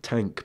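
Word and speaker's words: TANGK: of their new album tank but with a it's spelled like t a n g k but what's the other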